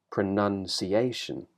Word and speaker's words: pronunciation: second syllable no longer carries the main stress now it sort of carries a secondary stress we call it so it goes up slightly the pitch of your voice goes up but the main stress is on a pronunciation can hear the secondary stress and the primary stress there dum D dumdi pronunciation